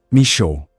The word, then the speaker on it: Michaux: I'd always pronounced it wrong until a coworker corrected me. "Me-show," he'd said, like it was obvious.